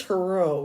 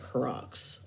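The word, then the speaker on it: Giroux: to my whole life the only people who ever pronounced my last name right is anybody who's french and the people would say well this was so the one i don't get though this one pronunciation mispronunciation i don't get is the one says my last name says it like crocs i don't get that one or heroics that's another one or heroux autocorrect always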